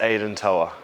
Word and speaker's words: Aidan Toua: Yep, it's Aidan Toua.